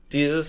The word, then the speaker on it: Desus: Boys pop-up shop with, is it Desus? Is that how you pronounce it? Jesus. Like Jesus. Yeah. Desus and Mero, who, two funny dudes.